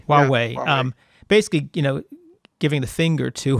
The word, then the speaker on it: Huawei: And I think your example of how do you pronounce it? Huawei. Huawei.